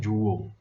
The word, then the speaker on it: Joule: Tem gente que fala Joule, tem gente que fala Joule, mas o correto, a pronúncia correta é Joule, tá?